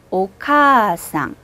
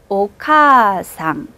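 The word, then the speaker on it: お母さん: 거의 안 들리게 카를 쭉 길게 끌고 가는 거예요. 두 박자로 발음합니다. 오카상. 한 번 더. 오카상.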